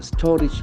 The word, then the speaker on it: storage: Pumped pumped to pump storage projects storage s t o r a g e the last letter A has got a e sound Storage storage this is